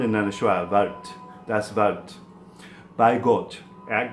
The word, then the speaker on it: Wort: Now, Wort, and we Have to try and pronounce that. Wart. Rhymes more with fart than it does with word. It looks like wort, but it's really a schwa sound with a, starts with a V sound and then a schwa.